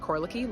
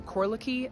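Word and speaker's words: Korleki: youtube channel yes so it's my name k-o-r-l-e-k korliki last name oh no spaces space between my first and last name and say it one more time um corlocky and then spell it k k-o-r-l-e-k-i space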